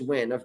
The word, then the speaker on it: Nguyen: to courtney nguyen n-g-u-y-e-n i think it's win i've had a lot of friends over the years with the last name and it was usually pronounced when an asian last name